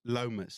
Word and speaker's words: Lomas: Lomas. Yes. Okay. So in Afrikaans dan sê ons dis nie warm is nie, dis nie koud is nie, dis Lomas. Lomas. Okay. Guys, we're here with Georic Lomas today on episode 4 of the ZYCEPS Show.